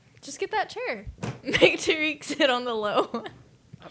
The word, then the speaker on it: Tareq: That's how he told us to yeah, pronounce it, though, was he Tareq. introduced himself as Tareq. As Tareq. Hi, I'm Tareq.